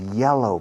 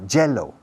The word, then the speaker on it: yellow: Porque tenéis la manía de pronunciar la V, la Y en inglés como una J inglesa, jello.